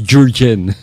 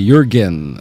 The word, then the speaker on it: Jürgen: Itong pangalan ni Jürgen maraming mga media nagkakamali dito, hindi nila ma-pronounce ng tama. Pati ang spelling kasi nito Jurgen. So ang pinopronounce sila as Jürgen. Pero alam nyo mga kaibigan, sa Europe, yung letter J, ang pronunciation nila dyan ay letter Y. So instead na J, magiging Y yan.